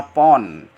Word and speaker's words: lb: Jadi LB itu pon gitu ya. Mahasiswa jangan bingung bacanya pon.